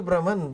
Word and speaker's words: Brahman: Well, it's spelled Brahman. Brahman.